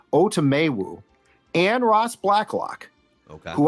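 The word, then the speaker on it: Otomewo: has a new pronunciation I thought it was otamu but it's now otomewu and Ross Blacklock okay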